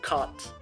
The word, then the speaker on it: Kant: A very complicated version comes from Immanuel Kant and, yes, it's pronounced Immanuel Kant. Kant. Kaaant.